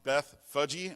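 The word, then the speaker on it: Bethphage: to the towns of Bethage, and apparently it's pronounced Beth Fudgy, but I just can't say that without laughing, so I'll just say Beth Fage.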